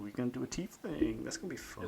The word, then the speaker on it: Tiefling: Ooh, you're going to do a tiefling. That's going to be fun. Is that how you pronounce it? Tiefling?